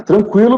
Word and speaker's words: tranquilo: não temos mais tremas frequente tranquilo não é tranquilo né é tranquilo mesmo você segue pronunciando aguentar saguir Então essas palavras seguem com a mesma pronúncia só que não aparece mais a figura do tremar tá foi uma acento